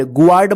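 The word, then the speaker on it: guard: मतलब होता है मेहमान गार्ड जी यू ए आर डी र्ड गर्ड मत पढ़िए ठीक है ना गार्ड पढ़ेंगे इसको गार्ड र्ड का मतलब होता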